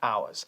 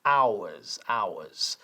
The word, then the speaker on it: ours: Ours. ¿Yeah? Hay dos pronunciaciones válidas de esto. Podemos decir they aren't ours o se puede decir they aren't ours. Ours o ours. Los dos son válidos.